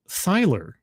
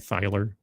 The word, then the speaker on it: Thyler: Thank you, Alan Thyler. I'm always going to say it that way because I remind myself it's pronounced like the thigh, like someone's thigh, Thyler.